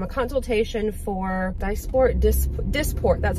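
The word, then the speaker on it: Dysport: went to um a consultation for disport dis disport that's how you say it disport which is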